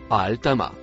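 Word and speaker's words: الطامة: Le mot en bleu ciel se prononce Al-Tama.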